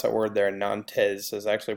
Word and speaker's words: Nantes: that's how you pronounce that word there are Nantes has actually pronounced Nantes and remember that Edict of Milan